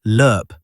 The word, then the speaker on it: LRP: The longrange patrol ration designated LRP and pronounced as lurp by soldiers was developed